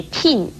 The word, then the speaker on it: 聘: 聘字的国语注音是聘，四声聘，也可以念成聘颇应聘四声聘。